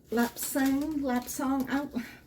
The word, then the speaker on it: Lapsang: Lapsang, I pronounce it with a soft A.